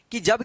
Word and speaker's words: cause: यहां पे आ गए कि जब किसी वर्ड में ए के जस्ट बाद अगर यू रहता है तो इस ए का औ उच्चारण होता है। ए का औ उच्चारण होता है। तो यहां पे देखिए आप, जैसे CAUSE, देखिए यहां पे ए के जस्ट बाद यहां पे यू आया है ना, तो इस ए का औ उच्चारण होगा। तो इसको पढ़ेंगे कॉज। क्या पढ़ेंगे इसको, कॉज पढ़ेंगे।